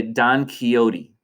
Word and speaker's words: Don Quixote: This is how we pronounce this name in American English. We say Don Quixote.